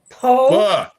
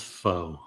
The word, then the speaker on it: pho: Pho. Oh. Thought it was faux.